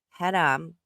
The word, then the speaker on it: haram: When I brought up about FFG and the whole haram, which it's pronounced haram, calm down.